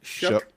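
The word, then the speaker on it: Shough: Shook.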